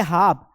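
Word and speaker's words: half: जैसे यहां पर है हाफ हाफ मतलब आधा तो यहां पर ये ए के बाद एल आ रहा है इसलिए यहां पर एल का उच्चारण नहीं करेंगे एल साइलेंट है यहां लिखा है काम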